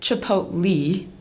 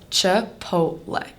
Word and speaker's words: Chipotle: My one grandma calls it Chi-poat-lee. My other grandma calls it Chih-poat-lay, but all of those are wrong. The correct way to say Chipotle is Chipotle.